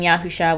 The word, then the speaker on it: Yahusha: high priest, and king, I call him by his Hebrew name, Yahusha, which I recognize there are slight variations in pronunciation depending on who you talk to, but that's how I pronounce it.